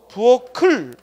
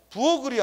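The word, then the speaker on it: 부엌을: 뒤로 간다고 알겠어요 어 그래서 발음하면 어떻게 돼 다시 한번 시작 부어 클 하고 부엌 글이 아니라 부어 클 하고 그대로 뒤로 가는 거야 그러면 이렇게 대표 키이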